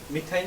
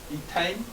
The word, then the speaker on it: ইথাইন: আইন তাহলে কি হবে উচ্চারণ হবে মিথাইন তো নাই মিথাইন তো হবেই না ইথাইন এখানে কয়টা কার্বন একটা